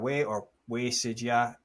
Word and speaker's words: Wei Sijia: Yeah, so Sijia Wei Sijia, as it should be pronounced according to Chinese convention, right?